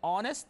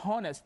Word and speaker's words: honest: disagree okay and here honest the Honest by the way H is silent here don't say honest this is wrong so